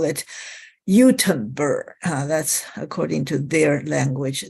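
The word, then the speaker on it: Göteborg: I was told that you should call it Utenburg. That's according to their language, their pronunciation.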